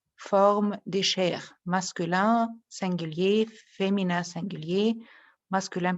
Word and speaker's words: cher: Mais il y a ici les 4 formes des chers, masculin, singulier, féminin, singulier, masculin pluriel et féminin pluriel. Cher, cher, cher et cher. C'est la même prononciation, mais ça dépend de la personne qui je parle.